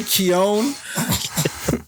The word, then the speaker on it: Keoghan: Barry Keoghan.